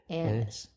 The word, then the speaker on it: anise: Anise.